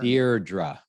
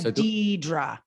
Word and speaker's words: Deirdre: think of your name I have to think of beer beer deardra yes beer dear instead of Deedra right a lot of people want to do Dedra they do and I've learned if I say it rhymes with beer people get it I